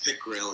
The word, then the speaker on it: Pickerell: you okay yeah in is that how do you pronounce that last name properly it's pil it's English p i c k r e l l thank you in fact